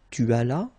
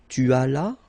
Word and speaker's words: tu allas: J'allais, tu allas, remember final S is not pronounced, il alla, elle alla.